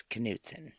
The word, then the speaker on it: Knutson: it yep I know I always thought it was Newton too but it's canson well and given your